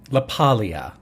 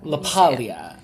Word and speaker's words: LaPaglia: Is it LaPaglia? LaPaglia. So you don't say the G. The G is silent.